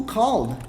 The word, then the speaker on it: called: E percebe que a pronúncia não é called. Não é called. Tá escrito called. Na verdade tá escrito Khaled, né? Tá escrito assim. Mas como é que fala? Called. Acredita em mim, tá? Fala assim que tá tudo certo. Called, called. Ah, mas tem um E. Eu sei. Mas confia em mim que é called e não called. Called tá errado.